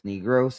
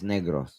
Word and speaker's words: Negros: First off, it's not pronounced as negro. It's pronounced as negros.